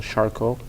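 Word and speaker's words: Charcot: diabetic patients there's a disease process we call charcoal it's named after a french surgeon it's spelled out c-h-a-r-c-o-t this disease process is a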